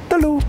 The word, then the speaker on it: telu: Bese, dua, telu. Oh. What? The similarity between Java and Bali in the number 3 is they're both pronounced as telu.